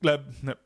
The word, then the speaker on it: Gleb: Um, can he just how to pronounce Gleb? It's just Gleb.